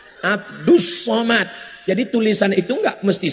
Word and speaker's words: Abdul Somad: kalau ini Abdus Somad tulisannya Abdul Somad tapi cara bacanya Abdus Somad jadi tulisan itu enggak